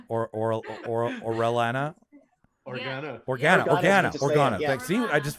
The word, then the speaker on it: Organa: Pronouncing those. Claudia, it sounds so much like the last name of Princess Leia, like Orellana or Orellana. Organa.